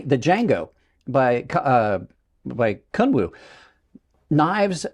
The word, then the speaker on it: Django: the YOLO I mean really the YOLO the Django I did I know I just accidentally proun pronounced the D but the J the Django by uh by kwu knives with names are